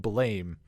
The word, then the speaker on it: BLAME!: hindsight and that's uh it looks like blame but Wikipedia says Blame Lam I think I heard someone pronounce it as blame but I'm going to go with blam uh cuz that's the sound of gun makes and the main character